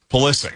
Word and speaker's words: Pulisic: All good so far for the United States even today without um Pulisic, is that how you pronounce the name? Pulisic.